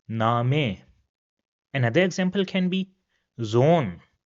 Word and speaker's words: Name: So it will have a long sound and will be pronounced as Name.